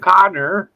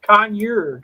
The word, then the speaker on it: conure: Connor's life with Ron it's not Gardner what is it conure conure I mean that's koi fish